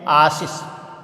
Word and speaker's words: आशीष: जैसे ये शब्द हैं आशीष। अब देखिए यहाँ आशीष, आशीष क्या शब्द है? आशीष। तो ये हमारा शुद्ध शब्द होता है।